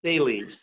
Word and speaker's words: Thales: And your school, do you pronounce it Thales? Is that how I say it? It's Thales.